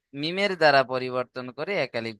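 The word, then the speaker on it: ميم: আজকের দেখেন মিমের মাখরাজ মিম দুই ঠোটের শুকন অংশ থেকে উচ্চারণ হয়। শুকন অংশ কোনটা? দুই ঠোটের শুকন অংশ অর্থাৎ বাইরের অংশ। এইযে বাইরের অংশ যেটা আছে না? এটা শুকন না? ঠোটের এই দুটো শুকন অংশ থেকে মিলিয়ে উচ্চারণ হবে মিম। মিম বলেন প্রত্যেকে বলেন মিম কোত থেকে উচ্চারণ হয় ঠোটের দুই ঠোটের শুকন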